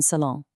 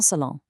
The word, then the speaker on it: salon: Listen to the nasal ending on salon. It rhymes perfectly with ton. Ton salon.